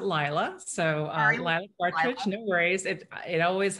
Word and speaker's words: Laila: of work layla great i actually pronounced it lila so uh our it